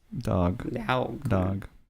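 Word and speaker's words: dawg: Dog. Well, it's spelled with a W. Yes, it's still dog. You don't say ow, you say aw. What? A-W is aw. Aw. Not ow.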